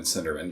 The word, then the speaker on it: Cinderman: I said it wrong. It's not Soderman. Cinderman.